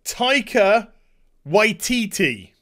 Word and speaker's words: Taika Waititi: the fourth leave off Disney I got to pronounce this right Taika Waititi there you go Tyko y TT to direct